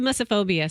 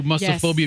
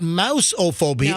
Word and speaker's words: mussophobia: It's not mouse-ophobia. No. It's muss? Muss. Like no fuss, no muss?